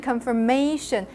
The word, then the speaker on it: confirmation: another confirm feels stronger and then confirmation confir May the stress is actually in the May part so so that syllable is actually not stressed so reduced uh